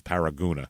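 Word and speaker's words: Paragonah: in the paragona area which it looks like Paragon but every pronunciation guide says paragona even though there's one o oh yeah it's p a r a g o n a h Paragon that's that sounds like paragona yeah but they it's paragona apparently according to all these pronunciation guides so I don't know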